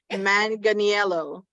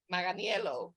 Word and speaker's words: Manganiello: Manganiello. Manganiello, yeah.